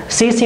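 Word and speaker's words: tsetse: मक्खी कहा जाता है, इसमें टी साइलेंट है, सीसी मक्खी से प्रोनाउंस किया जाएगा, सीसी मक्खी की वजह से ये रोग हमें होता है।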